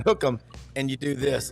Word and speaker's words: Hook 'em: from my advisor hookum it's it's two words but you pronounce it as one hook them and you do this